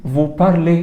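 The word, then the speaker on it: vous parlez: تنطق صح بارلون بص بص الاو زد بتتنطق ايه ايه الاو زد بتتنطق ايه تبقى فو بارلي فو بارليه افتكر ان هي غرب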